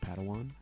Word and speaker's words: Padawan: to this bold Jedi it's pronounced Padawan Oh Padawan excuse me